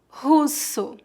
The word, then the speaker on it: russo: Russo, russo, russo. Lembre-se que o R em começo de palavras é pronunciado com a letra H no inglês. Russo.